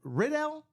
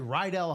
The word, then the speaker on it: Riddell: Is it Rydell or Riddell? I always say it like Rydell High from Greece, because Greece is the word.